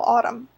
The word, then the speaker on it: autumn: ottoman planes because I didn't realize that the end was silent and that that was how you spell autumn even when they said